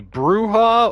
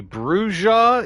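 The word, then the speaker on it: Brujah: uh called uh the the bruha or the brua it's it's b r u j a h uh same as the Spanish word for you know uh for Witch uh uh bruha uh but pronounced differently in the games and it says that it's pronounced differently depending on which Source book you read and and different people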